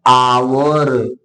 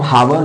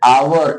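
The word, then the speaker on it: hour: वो शब्द क्या है आवर अब हावर जो पढ़ते हो ना गलत है आवर एक साइलेंट होता है दूसरा शब्द है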